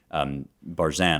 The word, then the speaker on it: Barzun: I've recommended From Dawn to Decadence before by Jacques Barzun, although apparently it's pronounced Barzun. I didn't know this, but Barzun.